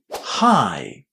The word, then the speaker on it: high: But for a lot of students, it's a problem because they don't remember that the letters gh are actually silent in this word. So we say hi.